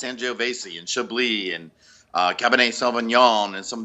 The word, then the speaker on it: Chablis: pronounce angio Basie and Chablis and Cabernet Sauvignon and some of the other ones Gewurztraminer I like that yeah because some people say Shapley's and it's not oh that's crazy yeah